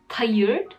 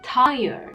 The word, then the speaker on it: tired: For example, she teaches her students on Instagram to pronounce these words as tired and fire. Every native speaker and teacher can tell you that these words are pronounced as tired, fire, not tired and fire.